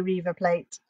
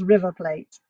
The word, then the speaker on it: River Plate: by my son but is River Plate I don't have to say Reaver plate it's River Plate Boca Juniors and River